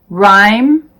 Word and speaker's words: rhyme: The H is silent in these words: our, honest, honor, air, vehicle, exhausted, exhibit, rhyme, rhythm.